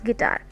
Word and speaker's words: guitar: First one is guitar. Guitar, guitar. So tar is louder than gi. So this is called weak syllable. Gi is called weak syllable and the ta is called strong syllable.